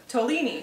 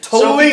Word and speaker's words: Tolini: Tolini. Tolini. Tolini. Almost like tortellini, but Tolini.